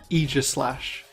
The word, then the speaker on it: Aegislash: I, for example, refuse to pronounce this Pokemon's name correctly. It's supposed to be Aegislash, but Aegislash just sounds so much better.